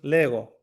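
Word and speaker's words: λέγω: You see here the the G has a little bit of the G will sometimes have different pronunciation. Here it has a stronger pronunciation because what follows it is a vowel. So it's Lego.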